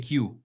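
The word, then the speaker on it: queue: A áno, Q sa píše oveľa dlhšie, než sa vyslovuje.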